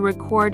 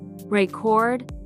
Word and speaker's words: record: a verb like to record a video the stress changes the meaning with a noun stress on the first syll aable record and the verb stress on the second syllable record and it's not